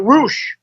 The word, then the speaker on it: Rush: And how about his partner, Roosh? That's how you say it. It's not Rush, right? It's Roosh, right? He was Rush, and the guy in Ring of Honor is Roosh. Okay.